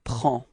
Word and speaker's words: prends: Okay, so you can see that we've got S at the end and then D as well, but then we don't pronounce them. So actually the only thing we will pronounce for this form is P-R-E-N, and it's the sound prend.